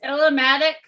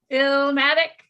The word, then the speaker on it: Illmatic: Well, this Illumatic. Did I say it right? Illumatic. This might have to be my dab for the next one. Illumatic, hold the A. Illumatic. Illmatic. There you go.